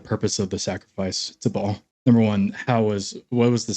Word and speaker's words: Baal: Well, I mean, yeah, you look at the worshippers of Baal, or actually apparently pronounced Baal.